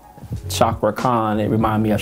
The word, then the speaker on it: Cakra: him last time and every time you said Shakra Khan it remind me of Shaka Khan yes um is that the right did we get the right pronounce pronunciation of that first we were saying kakra kakra we were saying kakra and and in